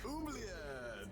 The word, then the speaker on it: oubliette: oubliette.